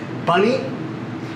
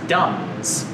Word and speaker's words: Duns: Is it Bunny? No, the town we were founded in is Duns.